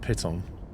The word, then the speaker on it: piton: Piton. Piton. It's like pit with the word on the end of it, so piton.